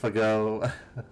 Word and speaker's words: FGO: FGO, pronounced Fago.